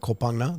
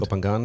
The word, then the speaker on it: Koh Phangan: to mispronounce this, but Koh Phangan. There's an island. Koh Phangan, yeah. Koh Phangan, thank you. It's not the Thai pronunciation, but yes. Okay.